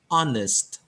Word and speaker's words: honest: dan kemudian kata ini spellingnya honest Tapi bacanya ondes haknya dibuang hanya tidak usah dibaca Thailand ondes sehingga ketika